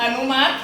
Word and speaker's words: อนุมัติ: ว่า ยัง ไง อนุมัติ อนุมัติ ไม่ ออก เสียง เก่ง มาก ค่ะ